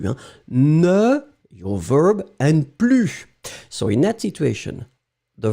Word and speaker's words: plus: Remember, you don't pronounce the S at the end of plus. Hein? Ne, your verb, and plus.